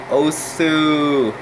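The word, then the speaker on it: osu!: ever played os before well it's spelled osu with exclamation mark oh sue did did i just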